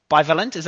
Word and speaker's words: bivalent: Bivalent? Am I pronouncing it correctly?